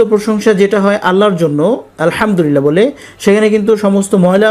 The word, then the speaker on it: আলহামদুলিল্লাহ: লাম লিল লামবুল্লাহ লিল্লাহ এখানে যে হাটা দেখতেছেন এটা সাকিন হবে লিল্লাহ এভাবে হাও আসবে লিল্লাহ আলহামদুলিল্লাহ এভাবে আবারো বলছি আলহামদুলিল্লাহ এটাকে সাধারণভাবে বলতে পারেন